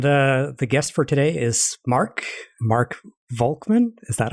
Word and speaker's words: Volkmann: And the guest for today is Mark Volkmann.